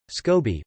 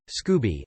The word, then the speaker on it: Scobie: we had a cadet scobie pronounced with a long o naturally everyone called her cadet scooby as in scooby-doo which